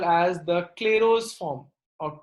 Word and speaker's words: Clairaut: we call as the Clairaut's form or Clairaut's equation. Please note the pronunciation is Clairaut. Clairaut. It is written as Clairaut's, but it is pronounced as Clairaut.